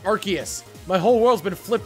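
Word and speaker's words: Arceus: recently found out that aras's name is actually pronounced archus my whole world's been flipped turned upside down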